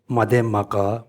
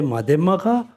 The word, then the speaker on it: Madhyamaka: The number 1, showing that those systems contradict unique feature of Madhyamaka, or you can say Madhyamaka or Madhyamak.